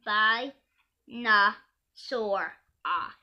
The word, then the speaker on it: Spinosaurus: you would be a star dancer spinosaurus - pronounced by na sore ah fat spinosaurus road that feet long toes from